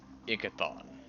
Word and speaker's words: Ikithon: My name is Ikathon. How do you spell that? I-K-I. Ikithon. I-K-I-T-H-O-N. Ikathon.